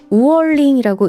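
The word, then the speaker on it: 五二零: 참고로 5월 20일 숫자로 520은요, 중국어로 우얼링이라고 읽는데요. 이게 중국어로 사랑해를 뜻하는 워아이니와 발음이 비슷해요.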